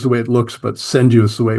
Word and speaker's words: senryu: It's senriu is the way it looks, but senu is the way it's pronounced. Senriu. Okay. Yeah. The r is pronounced as a d basically.